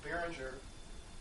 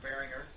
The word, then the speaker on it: Behringer: play that drives a Behringer, or Behringer, however you want to pronounce it German way, Euro power amp.